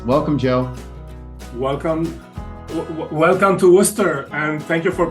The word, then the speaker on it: Worcester: president for University advancement at Clark University in Worcester Massachusetts welcome Joe welcome welcome to Worcester and thank you for pronouncing it the right way well my brother